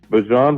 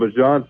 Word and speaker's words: Bijan: Bijan Robinson ran a ton of gap runs at Texas. And Bijan told Stefanski...